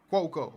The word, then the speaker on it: Cuoco: for me kaley cuoco cuoco Oh kaley cuoco okay cup cow is how you remember I know cuz a